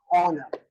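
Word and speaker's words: honour: तो कहा जाता है चेक इज ऑनर। एच होता है लेकिन वो साइलेंट।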